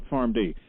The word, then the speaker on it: PharmD: the existence of a PharmD? And am I saying it right, a PharmD? That's right? That's correct. And I would agree.